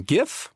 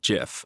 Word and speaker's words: GIF: decisive 85% of you prefer a hard G as in GIF whereas amly 15% prefer GIF so I stand corrected from